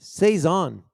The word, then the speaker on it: saison: cezanne cezanne it's a saison that's how you pronounce it saison okay so uh wildfield's rustic field cezanne is